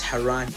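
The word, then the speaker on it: Haraan: By the way, his name in the Arabic says Haran, H-A-R-A-A-N. That's how you pronounce his name.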